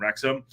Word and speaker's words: Wrexham: United in rexam two it's rexam I'm saying it right now it's reom I I